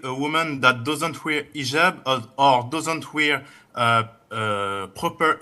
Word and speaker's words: hijab: in hotel or but this is an Arabic word. So we Muslims we have to say hijab.